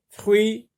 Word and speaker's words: fruits: Des, D-E-S, des fruits, fr, avec oui, fr, oui. Donc, une syllabe seulement. TS sont des lettres muettes. Des fruits.